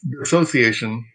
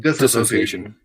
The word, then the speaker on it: dissociation: It's dissociation, not disassociation. I'll make sure in the intro I say it correctly. So one good way to remember that is there's no ass in dissociation.